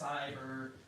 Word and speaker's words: cyber: It's just like the word cycle. That's a long I sound.